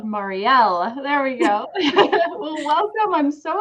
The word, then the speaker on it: Mariel: Yes, it's Mariel, but that is totally Yeah. fine. Yes, I have to remember that L, Marielle.